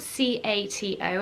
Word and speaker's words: Cato: this and that is the name cato so it's spelled c-a-t-o and i've definitely checked it is pronounced cato